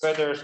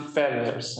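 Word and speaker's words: Fedder: while so what is feathers all about I feel like I keep pronouncing feathers you know like the the feathers of of a bird no but it's feather um okay where are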